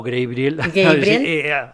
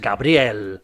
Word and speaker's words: Gabriel: mejor actor, Gabriel Montesi, le he llamado Gabriel haciendo una pronunciación inglesa, pero es Gabriel, ¿no? Es italiano.